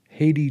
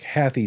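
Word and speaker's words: HathiTrust: something known as the haiti trust it looks like happy trust but they say it's pronounced haiti much like the country and it's a reference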